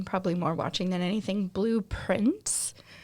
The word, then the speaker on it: Blue Prince: I have been watching, probably more watching than anything, Blueprints, and it's spelled Prince, but it's also supposed to be like blueprints, like Prints.